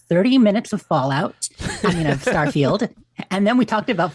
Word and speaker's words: Starfield: It's a Starfield, just pronounced like that. I've heard someone the other day said I pronounce it like I pronounce Garfield with 3 syllables. I'm like, Starfield. how do you get 3 syllables?